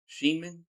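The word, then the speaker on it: Schneemann: How you pronounce that? Sheenman. So Daniel Sheenman, 228 on the season, 5 homers.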